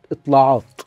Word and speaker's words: اطلاعات: فيهم اول صحيفه هي صحيفه اسمها الطلاءات اطلاقات بالعربي ننطقها اطلاعات اه ا الصحيفه دي